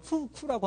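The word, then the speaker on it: 福库: 중국 발음으로는 푸쿠라고 하는 건데 행복의 창고다 이런 뜻인데, 자, 하여튼 그 제품인데 그 제품에 딱 하면 일렉트릭 라이스 쿠커스 나오고 15, 10이 나옵니다.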